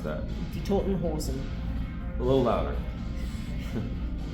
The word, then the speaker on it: Die Toten Hosen: I can't pronounce that. Die Toten Hosen. A little louder. Die Toten Hosen.